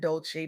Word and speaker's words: Dolce: I'm Dolce, pronounced dol-say, like sweet softness whispered in French.